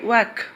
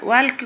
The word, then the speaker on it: walk: जपरि मु किछि लिखि देइछि एठारे देखो WALK वाक वाक अर्थ है चलवा। वाल्क कहबनी पिले ये एलटा साइलेंट रुहे।